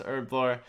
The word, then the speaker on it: Herblore: going to be saying herblore a lot in this video i do not pronounce it with the h i can't make everyone happy i'm sorry all right but here is 96 urblar as exciting as hell